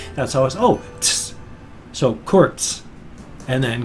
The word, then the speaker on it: Kurz: A Z sound is pronounced with a TS sound. So if you see the Z, that's always, oh, tss. So Kurz.